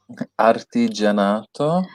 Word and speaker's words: artigianato: Okay, pronounce it, Sean. Artigianato.